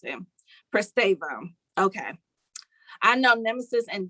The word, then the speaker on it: Pristavia: 10 they ring on me that's how you pronounce him prestavo okay i know nemesis and jada because of